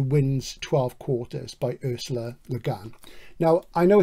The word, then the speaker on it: Le Guin: But pronunciation, who's to say? But I know she said Le Guin, so I'll try and make it good from going forward.